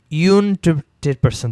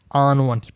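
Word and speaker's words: unwanted: আচ্ছা যেমন আনওয়ান্টেড পার্সন, একটা জিনিস মনে রাখবেন, এখানে তো ইউ আছে, বাট ইউ মতো হচ্ছে ইউনটেড পার্সন তো হয় না, আনওয়ান্টেড পার্সন। তো এই ক্ষেত্রে আ বা উ এরকম যদি উচ্চারণ হয়, ইউএইচ উ, বা হচ্ছে এরকম যদি উচ্চারণটা হয়, তাহলে এখানে এ এবং ইউ দুইটাই ভাওয়েল হিসেবে আসতেছে, এই জন্য আনওয়ান্টেড।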